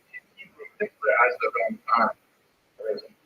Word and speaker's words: Ramban: Rambam is pronounced with the emphasis on the first syllable, Rambam, and Ramban is pronounced with the emphasis on the second syllable, Rambam and Ramban.